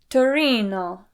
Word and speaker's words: Torino: Today's question comes from Davide in Turin, Italy, but I believe that is pronounced Torino in Italian.